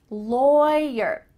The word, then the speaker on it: lawyer: Lawyer. Even though the root of this word is law, The vowel is different when we're talking about the person.